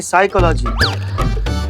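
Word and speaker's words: psychology: करते पिसाई का लागी साइकोलॉजी नहीं साइकोलॉजी प साइलेंट होता है तुम हो जाओ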